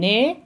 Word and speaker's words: est: So je suis, tu es, il, elle, on est. Don't pronounce the ST.